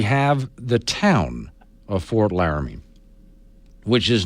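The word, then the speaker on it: Laramie: out okay but I know better than to use three syllables when I say laramy yeah and I know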